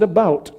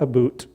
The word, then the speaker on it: about: French not American and I pronounce it about not a boot and I can proudly